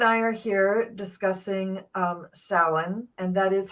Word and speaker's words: Samhain: so Gerald and I are here discussing um sin and that is how you pronounce it is sa um I you you're perfectly welcome to go ahead and keep saying Sam Hayne or sah Hayne but it's not how it's pronounced not in